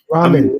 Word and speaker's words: ramen: Other than slow walking it almost to, you or eating Roman noodles. Ramen. That's so rich, he can't even say it right. It's ramen. Ramen noodles.